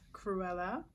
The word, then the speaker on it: Cruella: makeup look it's inspired from the movie called cruella is that the correct pronunciation yes cruella um it's just a specific picture that i